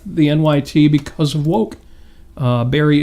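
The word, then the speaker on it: Bari: Barry is a woman. Name is spelled B-A-R-I, Weiss. Mm-hmm. If you're not already listening to that podcast, honestly, by Barry Weiss, give it a listen.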